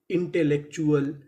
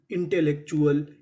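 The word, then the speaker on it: intellectual: आपको एक रूल और याद रखना है, अगर आपको इंग्लिश की किसी भी मीनिंग में कोई अक्षर अगर 2 बार लिखा मिले तो हम लोग उसका उच्चारण 1 बार करते हैं। तो यहाँ पे L हमारा 2 बार है, पढ़ेंगे 1 बार।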